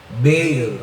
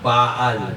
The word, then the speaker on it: Baal: Tingnan mo yung mga Amerikano pag engles bail ang pronunciation nila. Pero ako Pilipino na taon lang by God's grace ha. Hindi kayabangan. God's grace pabor lang ng Diyos. Pino-pronounce ko iyon baal kasi Hebrew parang tagalog.